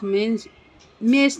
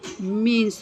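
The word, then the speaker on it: mesne: तो section 2 sub clause 12 defines मेंस ने profit. अभी पता नहीं, मैं तो इसको मेंस प्रॉफिट बोलती हूँ, आप पता नहीं क्या बोलते हैं। मेंस ने प्रॉफिट मीन्स प्रॉफिट, इसका करेक्ट प्रोनाउंसिएशन है।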